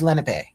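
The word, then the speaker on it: Lenape: How do you say it?" And I'm like, "Oh, it's Lenipe." Like it's a Len word.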